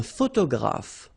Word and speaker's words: photographe: All right, un photographe. So here PH and here PH, pronounce it like F, f, f, f.